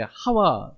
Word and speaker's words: 하와: 그 개혁 성경에 익숙하신 분들은 이제 하와 이렇게 이제 하와나 이브나 이제 같은 사람을 말해요. 근데 이제 발음할 때 이제 히브리식으로 이렇게 발음하게 되면 하와가 되는 거고 영어로 발음하게 되면 이브가 이렇게 되는 겁니다.